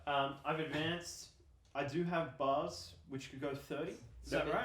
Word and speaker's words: BAR: I do have bars which could go 30. Is that Look at right? Those hot bars. BAR. BAR. So It says in They're the gonna infantry be- manual They're not pronounced bars, B-A-Rs.